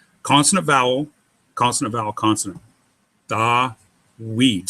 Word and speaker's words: Dawid: Anyway, Dawid is consonant, vowel, consonant, vowel, consonant. Dawid. So the Vav in this case is being used as a consonant, not a vowel.